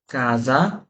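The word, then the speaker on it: casa: এস এর আগে পরে ভোকালে থাকলে। যেমন আমি দেখাই, কেমন দেখাই আপনারে, বলি যে কাজা, রিজো, না, যেখানে এস এর উচ্চারণ কিসের মতো হয়েছে?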